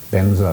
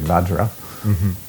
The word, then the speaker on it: vajra: to use either the the form in which you receive the word like benzer for example but the sanskrit is actually vajra so some teachers will